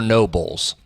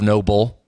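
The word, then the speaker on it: Nobull: shoes the shoes are no Bulls Will Greer our guy yeah endorser of noble how do you spell it bull oh n-o-b-u-l-l yes cool oh no bull not Noble the last part of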